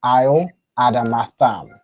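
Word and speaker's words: על אדמתם: So this is pronounced isle adamatam.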